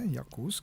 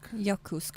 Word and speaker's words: Yakutsk: We left off in Yakutsk. That's how you pronounce it, eh? Yakutsk. Yakutsk, yeah.